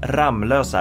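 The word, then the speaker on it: Ramlösa: there's only one M but it's actually pronounced ramlosa as if it were two M's in there don't ask me why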